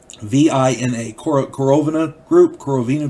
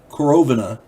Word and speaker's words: Korovina: But Korovina Group, Korovina, K-O-R-O-V-I-N-A, Korovina Group. I'm going to say Korovina, because I'm pretty sure that's how it's pronounced.